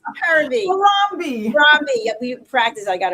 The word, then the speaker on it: Harambee: It's Harambee.